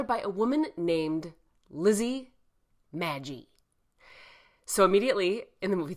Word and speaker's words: Magie: I don't think it's Magie. I think it's Magie. It's got one G, M-A-G-I-E, FYI, just so you don't think I'm mispronouncing it.